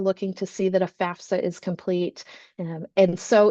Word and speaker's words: FAFSA: FAFSA. FAFSA. It is so important we pronounce this correctly because it's an acronym and it stands for Free Application for Federal Student Aid.